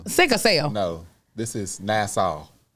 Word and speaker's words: Nassau: This is Nassau. Not NASA.